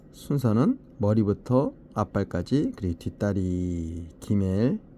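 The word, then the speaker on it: גימל: 머리부터 앞발까지 그리고 뒷다리 기밀 낙타 기역 발음이고요 낙타 성숙 뭔가 보답을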